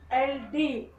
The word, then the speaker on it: should: TALK, that is a talk, where TL is silent. Off, HALF, that is off. And calm, CAM, calm. Should, SHOULD, should.